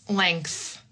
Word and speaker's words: length: We have how to pronounce length. Length. This is a word where honestly I would completely ignore I would completely ignore the spelling and just say length.